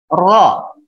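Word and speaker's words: ر: Kemudian ro. Ini tebal. Ini tebal ya. Disebutnya tafkhim. Ro. Pelafalannya ditebalkan. Kemudian zai.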